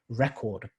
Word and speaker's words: record: verb as well so when you use it as a noun then the stress would be right to the beginning of the or it'd be on the first syllable so for example record you'll have a record